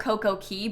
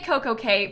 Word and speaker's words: CocoCay: It's technically called Coco'Key', but it's spelled Cay like C-A-Y, but Royal Caribbean calls it Perfect Day at CocoKay, So I don't know how you're supposed to say it. They say CocoKay, people that know about